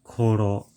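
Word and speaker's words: 頃: So after looking it up, I found out that this word is pronounced Iju and means immigration, and the next word is Koro, meaning around time speaking.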